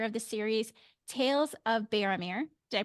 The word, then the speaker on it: Baromir: Again, today I had the privilege of talking with Eric Johnson, author of the series Tales of Bearameer. Did I pronounce it right?